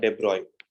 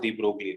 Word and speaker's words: de Broglie: a scientist named lewis d okay so you pronounce does debroy b r o y generally you would have learned it as de broglie right it is pronounced as depriving okay so